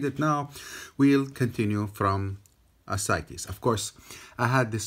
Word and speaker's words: ascites: cancel nature or something so it's ascites okay ascites ascites okay so we'll continue now